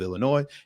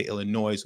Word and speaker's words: Illinois: yes bit the community I know the S is silent but that's not how I say it I say Illinois with a hard s and it just is